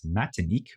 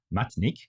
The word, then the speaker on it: Matinik: the island of martinque which is known as matinik or with one less syllable matinik in the version of French Creole spoken on the island inspired by the ideas